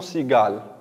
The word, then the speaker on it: cigale: Autrement, par quelle syllabe commence le mot cigale? C'est très bien. Il commence par la syllabe si. C'est la lettre C suivie d'un I. On prononce le son S. On ne prononce pas le son que.